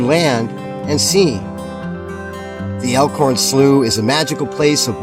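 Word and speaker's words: Slough: day elorn elorn SL I kept I kept referring to it as slow some guy said no no it's not it's not slow it's slooh why didn't they spell it s l e w so anyway we're at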